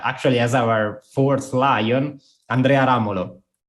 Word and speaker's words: Andrea Ramolo: folk music award but her name is italian and i will pronounce it with the italian pronunciation so it's really a